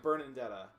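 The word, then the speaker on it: Bernadetta: god it is why literally everyone in the game pronounces it burnin detta with an N what the [ __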